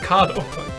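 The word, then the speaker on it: カード: I realized, like, oh, they don't want credit cado, they just want kado.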